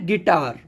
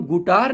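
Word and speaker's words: guitar: नहीं होगा जैसे है गिटार जी यू आई तो यू के बाद आई आया तो हम गुटार नहीं गिटार बोलते हैं जैसे है बिस्किट बी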